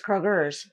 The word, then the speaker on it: Kroger: place we we do it's not Kroger it's Krogers yeah our grocery store it's the fourth largest in the in the world is Kroger we all call it Kroger that's a Cincinnati thing though for real I